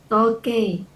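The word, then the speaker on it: 時計: Toke. Toke, toke, seperti itu bacanya. Jadi i-nya nggak dibaca nih, i-nya yang ini. Bacanya e-nya aja dipanjangin.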